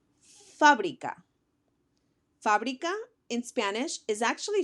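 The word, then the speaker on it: fábrica: word is fabria again the accent goes on the a so I'm going to emphasize that syllable as I read it Fabrica Fabrica in Spanish is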